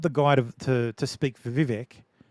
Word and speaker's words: Vivek: Well, I'm watching it, and the Vivek guy, they call up the guy to speak for Vivek. It rhymes with cake and ironically fake.